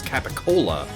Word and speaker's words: capicola: It's just a funny pronunciation for what appears to, when written, be pronounced as capicola.